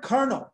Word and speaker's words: colonel: the same rules yeah the word kernel right it's a french word kernel yeah try to spell that word colonel if you've never seen it before you're going to spell it wrong it looks completely different than how you say it okay and that's